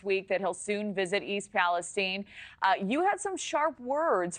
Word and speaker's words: East Palestine: It's East Palestine, not Stein.